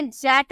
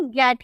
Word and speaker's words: get: ठीक है, तो ये आपको याद रखना होगा कि गेट, हम इसे जेट नहीं गेट ही बोलते हैं।